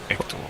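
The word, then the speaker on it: Héctor: I live in Spain I've met a few hectors here but we don't pronounce the h ector oh my surname is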